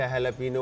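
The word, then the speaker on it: jalapeño: Jojoba को हम लोग जोजोबा कहते हैं, नॉर्मली जिसको प्रोनाउंस करते हैं होहोबा कहते हैं, जैसे हैलापिनो और जैलापिनो।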